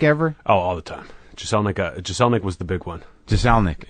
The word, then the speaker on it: Jeselnik: Jeselnik, yeah. Jeselnik? Yeah. What did I say? Jeselnik. Yeah, people will hit the Z on it a little bit, which is fine.